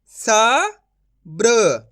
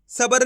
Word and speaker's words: सब्र: सबर नहीं पढ़ना, अगर आप सबर पढ़ोगे तो इस तरीके से रा का पूरा उच्चारण हो जाएगा, तो आपको ये गलती नहीं करनी। कैसे पढ़ेंगे? सब्र, इस तरीके से उच्चारण करेंगे।